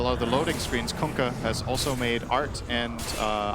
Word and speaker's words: Kunkka: That's how you pronounce it. You're welcome. Kunkka.